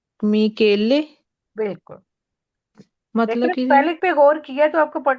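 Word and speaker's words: Michele: आहा, मा मी मिकेले। बिल्कुल। मतलब लेकिन कि जी स्पेलिंग पे गौर किया तो आपको पढ़ना है कि ये बांस केले नहीं, मिकेले।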